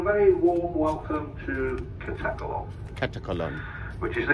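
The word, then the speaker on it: Katakolon: bridge on a very warm welcome to catalog catacolon which is the correct pronunciation according to the local Pilots so we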